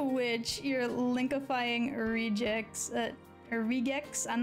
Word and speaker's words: regex: ask me but that's just my smelly opinion regex is that how you say it show it for regular expression ah okay yeah so regex got it let's see do I have anything